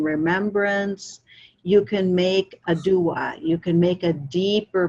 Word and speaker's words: dua: On our path, we call this a dua, D-U-A, pronounced dua.